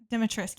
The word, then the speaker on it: Dimitrescu: Like then even um She's like In Resident Evil, Lady Dimitrescu, is that how you say it? Lady Dimitresc Dimitrescu, yes. Her, she is actually based